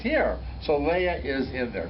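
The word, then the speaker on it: היא: V'hine he Leah. It's pronounced he, because she was Leah.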